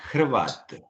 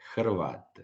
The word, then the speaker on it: Hrvat: On dit Hrvat. Voilà. Hrvat. Voilà. Et comme le H était difficile à prononcer, donc en fait, c'est devenu presque un K de cravate, et du coup, c'est devenu cravate.